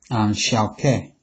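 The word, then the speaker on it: 消渴: In Chinese medicine, Chinese is pronounced xiao ke.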